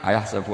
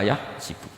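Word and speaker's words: أيحسب: Jangan Quran kita kan ayahsabu Allah yaqdiru alaihi ahad, bukan dibaca ayahsibu.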